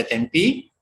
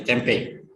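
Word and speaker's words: tempeh: Istilah tempe di dunia pun sering ditulis dengan huruf H, karena kalau dengan tempe tanpa H akan terbaca tempi, sehingga ditambah H sehingga bacanya menjadi tempe.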